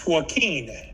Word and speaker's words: Joaquín: Is it It's Joaquín. Joaquín? You know, like Joaquin Phoenix?